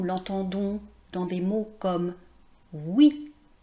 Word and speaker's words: oui: Vous voyez dans le mot oui en fait ça s'écrit o u i et pourtant on prononce le son [w] Egalement dans OUATE.